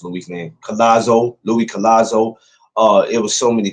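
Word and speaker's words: Luis Collazo: Kasu Lou Kaz oh man I can never pronounce Louis nameo. Louis Collazo.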